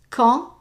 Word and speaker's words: quand: Je dois quand, and we're not pronouncing the D, quand même autoriser une carte de crédit pour la réservation.